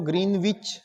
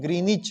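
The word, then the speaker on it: Greenwich: का आप ध्यान रखेंगे जो ग्रीनविच जो शब्द होता है ये ग्रीनविच नहीं होता इसका सही प्रोनंसिएशन ग्रीनिच है ग्रीनिच ठीक है ये है इसका सही उच्चारण ग्रीनिच ग्रीनविच नहीं ग्रीनिच ठीक है ऐसे ही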